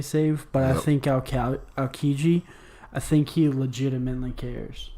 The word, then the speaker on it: Aokiji: I think Aokiji, I think he legitimately cares. Look at you not saying Aljiki today.